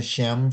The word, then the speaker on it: Shem: Rabbi Lo deactivated the golem on Friday evenings by removing the Shem from the Sabbath or Saturday, before the Sabbath began, so as to let it rest on Sabbath.